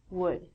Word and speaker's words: would: All of these L's are silent. So it sounds like, should could, and the thing that we get from trees would.